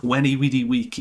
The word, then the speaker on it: Veni Vidi Vici: It's not Veni Vidi Vici, it's Weni Vidi Wiki, which sounds terrible, but it is what it is.